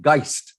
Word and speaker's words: Geist: so the album is called geist is that correct pronouncing it yeah and it's a german